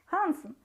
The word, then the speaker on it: Hansen: Hʌnsen? Of course it would be more correct to pronounce Hænsen, but in Russia the version of Hansen has taken root, so that's how we will call him.